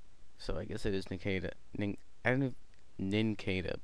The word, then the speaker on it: Nincada: Actually, no, it should be Nincada, because it's a pun of cicada, which is like a cricket thingy. So I guess it is Nincada.